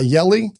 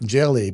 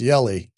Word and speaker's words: Hjelle: It says it said in my pronunciation it sounds like jelly but it's Yelli. So the H is silent, I guess.